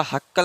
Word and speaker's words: Haeckel: देखिए हिंदी में लिखने में हैकल तो आसान होगा, इंग्लिश में स्पेलिंग गड़बड़ाता है, तो हैकल की स्पेलिंग देखिए क्या होगा, HAECKEL, हैक्केल। 1865 में हैक्केल नामक वैज्ञानिक ने जो है लवक या प्लास्टिड की खोज की थी।